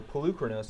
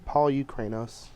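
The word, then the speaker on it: Polukranos: Or Poluchronos, I believe is actually the correct pronunciation. I think it's Polychronos. All right, we're going to get old Thoughtseize and a Rat going.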